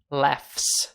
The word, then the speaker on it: laughs: Martin laughs. É o F mais o S na pronúncia.